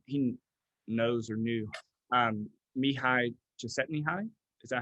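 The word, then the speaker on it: Mihaly: set me high and he pronounces his first name mihai even though there's an l in there um so um okay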